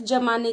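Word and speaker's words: ज़माना: कर रहे हैं, बर्फ जमाने की बात कर रहे हैं, तब तो ठीक है, जमाना शब्द ही आएगा। बट अगर आप ज के नीचे बिंदु लगाते हैं तो कैसा उच्चारण होगा, जमाना।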